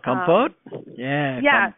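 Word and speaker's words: Kampot: to correct me if I'm saying this wrong, kompot pepper, is that how you say it? The Cambodian pepper. Oh, compote?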